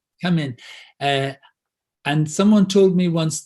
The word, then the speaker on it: Камень: Is it Kamen or Kemen? How do you pronounce it? Kamen.